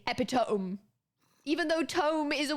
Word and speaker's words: epitome: You do not pronounce this epitome because if you do, someone will go, haha, that's wrong. It's epitome. Why? Why? Because it's Greek.